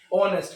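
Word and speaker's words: honest: कुछ नहीं है या, और ये जो हम उसको बोल रहे हैं इसको देखो, इसका प्रोनाउंसिएशन क्या है? क्या है? ऑनेस्ट।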